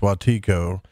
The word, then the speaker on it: Wetiko: So Wetiko, which I said Wetiko, but it's pronounced Wetiko.